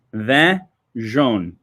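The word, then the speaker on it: Vin jaune: Thing number 3, okay, is, let me make sure I can say this, Vin Juane. Vin Juane. Okay, this is French pronunciation.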